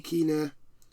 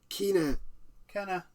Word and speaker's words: Kena: It's Kena. Oh, is it Kena? No, that's right. Kena. That's how you pronounce it. I found out because I played the game. Yeah. So all this time we've been pronouncing the name wrong, but anyway.